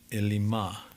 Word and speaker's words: Elim: Incidentally, Elim in the Hebrew would be pronounced Elimah, which means terebinth, right?